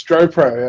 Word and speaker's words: Stropro: founder of stopr is that how you correctly pronounced the name mate yeah it's stro proo stro proo a little bit tricky but all